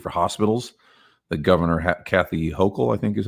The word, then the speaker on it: Hochul: The governor, Kathy Hochul, I think is how you say her name,